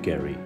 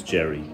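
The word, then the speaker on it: Geri: we'll have a look at Gary or sometimes pronounce Jerry so the name is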